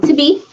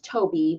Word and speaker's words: Toby: and how he came to be. But his name is, well, his name is Toby, but I'm going to be pronouncing it the African way, or at least the Nigerian way, Tobe.